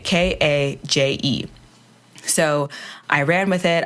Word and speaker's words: KAJE: And when I introduce myself as KAJE, people are like, huh, that's weird. Like, you don't seem like someone who's very caged. But it's spelled with a K and a J, KAJE.